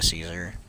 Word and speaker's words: Caesar: Yeah, it's pronounced Caesar, you moron.